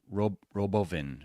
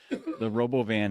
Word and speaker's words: Robovan: Yeah, I think that the Robovan, Elon had a really interesting pronunciation for it was Robovin or something like that in the event. No, Elon, no. But the Robovan, I think, will be extremely successful.